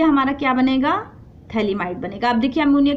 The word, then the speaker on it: phthalamide: इसको क्या कहते हैं, थैलामाइड, पीएच साइलेंट, थैलामाइड।